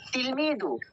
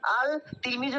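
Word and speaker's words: التلميذ: আর তিলমিদু, আচ্ছা বলো তো এখানে আমরা আলিফ লামের কেন উচ্চারণ করছি না, আল তিলমিজু কেন পড়ছি না? Current is a group of Samsia. কোনটা শামসিয়া? Ta. ওকে, হরফে শামসা হলে কি করতে হয়? লামটা পড়তে হয় না, তাই তাসদিদ দিয়ে পড়তে হয়।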